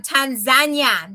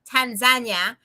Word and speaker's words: Tanzania: I am back from Tanzania. That's the correct way to say it. I want to go on the record for that. Tanzania or as most people in America say, Tanzania.